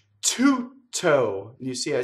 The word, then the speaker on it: tutto: Du, tu, tutto, not tutto.